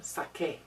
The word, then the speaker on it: saqué: If I were to put UE after C, it would be Sway. So we have to spell it with a Q to give it the qué sound saqué.